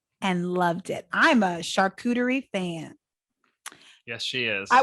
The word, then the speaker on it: charcuterie: the founders of charcuterie is it charcuterie right chartering no no you said it right that's right it's a coup not a chew um um and